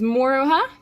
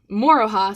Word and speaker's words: Moroha: do with the shelf but this here is moro huh moroha sorry i keep getting tongue-tied when i say